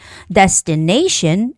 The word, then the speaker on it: destination: destination and information okay anytime when a word has Tio n ending the stress goes on the syllable in front of t n so location trans sorry Transportation destination and information Okay so